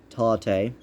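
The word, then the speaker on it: Tauktae: covered tall taste uh tate spelled t a u k t a e but pronounced talate i covered that i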